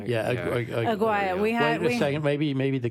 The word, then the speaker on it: Aguayo: Yeah, Aguaya. Wait a second. Maybe the coach knows. Coach, how to pronounce Aguaya? I believe it's Aguayo.